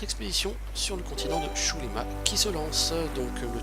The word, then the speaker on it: Xulima: Alors vous noterez que depuis le début je prononce Shulima et non Zulima, pour la simple raison que Golen, à chaque fois qu'il parle de ce continent, le prononce Shulima.